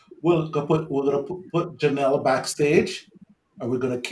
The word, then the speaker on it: Jahn'll: today Janelle how are you doing am I pronouncing your name right yes Janelle Janelle right okay what a beautiful name it's good